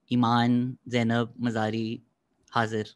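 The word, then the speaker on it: Imaan Zainab Mazari Hazir: और आज की हमारी गेस्ट हैं लॉयर एक्टिविस्ट ईमान ज़ैनब मज़ारी हाजिर।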